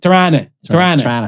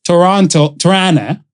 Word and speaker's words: Toronto: Or Tirana. You don't pronounce the last T.